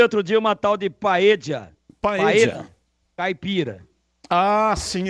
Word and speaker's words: paella: Paeja escreve-se paella. Alguns dizem que a pronúncia correta é paella. Mas aqui no Brasil todo mundo fala paeja.